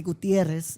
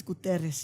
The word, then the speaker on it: Guterres: guterres yeah uterus and obviously i wasn't gonna say gutierrez but it's guterres yeah all right you